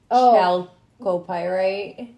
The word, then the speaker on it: chalcopyrite: ore is what like they call it, but right there is like the official name, the chalcopyrite. Calcopyrite? I don't know. Calcopyrite, I think is how it would be pronounced.